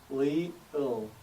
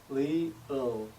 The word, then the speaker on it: 리을: Next up is 리을, pronounced with the L sound. An example of this would be 리 from leer, followed by 을 sound. 리을, 리을, 리을.